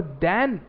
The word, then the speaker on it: than: और देन जो शब्द है, इन पहले तो इनकी हम प्रोनाउंसिएशन समझते हैं। THEN को हम देन बोलेंगे, देन।